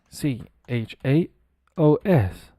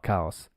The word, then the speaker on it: chaos: you think it is c h a o s did it again c h a o s it's easy let cows now it's not cows it's chaos in English it's pronounced